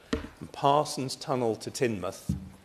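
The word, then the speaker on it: Teignmouth: and Parson's tunnel to tinmouth not tinmouth I'm afraid it's tinmouth tinmouth is somewhere else tinmouth give or close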